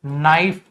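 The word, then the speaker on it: knife: अ नाइफ के silent होता है ना इसमें तो नाइफ तो इसका प्लुरल भी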